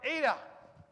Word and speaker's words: eta: have in english and then we've got eta now this is our first kind of interesting vowel as i said earlier this is a it's it makes the long e sound like in obey that kind of idea